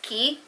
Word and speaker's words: Quay: I know a lot of people say Quay, but I heard it's pronounced Key.